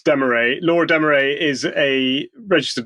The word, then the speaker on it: Dameret: uh you are interviewing Laura de deay is that how you pronounce her name well I was unsure as well but no it's Demay Laura Demay is a